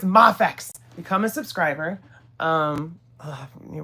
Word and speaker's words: Mafex: And it's Mafex, not Mayafex. Don't say Mayex. Um, Mafex. That's how that's how it's pronounced. So, yes, this at 4K we're giving away the MafX Spider-Man.